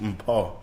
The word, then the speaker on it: Mpho: Mpho. Mpho. Really, my name is pronounced Mpho, but I'm not even going.